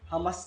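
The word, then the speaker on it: חמס: Meron kasi dyan ang spelling ay merong C-H-A-M-A-S. Parang binat Hamas. Hindi. Pag kasi pinopronounce walang C. Hamas talaga eh.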